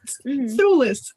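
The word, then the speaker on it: Thewlis: It's Thulis. But it doesn't look like that. I was going to say thistle or something like. I knew it sounded like a lisp, like a regular word, but with a lisp in it.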